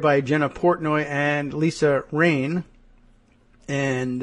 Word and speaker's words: Rein: The story reported by Jenna Portnoy and Lisa Rain, and I'm hoping Rain is how she pronounces R-E-I-N, but maybe not.